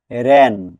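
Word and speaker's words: wren: বুঝতে পারলাম এস এর পরে ডবলিউ থাকলে ডবলিউ সাইলেন্ট থাকে ডবলিউ আরই এন রেন ক্ষুদ্র ডানাওয়ালা পক্ষে বিশেষ এখানে ডাবলিউ পরে আর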